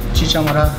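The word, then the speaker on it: chicha morada: It's called chicha madero. I'm not sure that's how you say it. Let me ask my man right here. How do you pronounce the name of this drink? Chicha madero.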